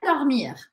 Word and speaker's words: dormir: Je vais dormir. Je vais dormir. Important la prononciation du R à la fin.